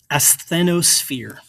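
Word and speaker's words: asthenosphere: So this is pronounced athenosphere.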